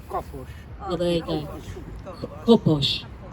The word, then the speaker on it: Kapos: Is it Kapos or Kapos? It's Kapos.